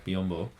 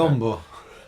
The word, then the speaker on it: Biyombo: Mason Plumlee and Bismack Biyombo. Well, I don't pronounce it like that. Biyombo.